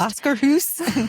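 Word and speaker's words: Akershus: And they have that like, and they have the princess dining option, Arca House, Hoss, whatever we said it's pronounced. Oscar Hoos.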